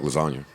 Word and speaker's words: lasagna: Oh, like lasagna. The G is probably silent like lasagna and G's.